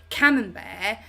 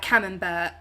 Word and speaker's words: camembert: So for example, camembert, I know because of Robbie, I say it like that. But if I didn't know, I would be like camembert. Because it's got like a T, hasn't it? It's like a silent T.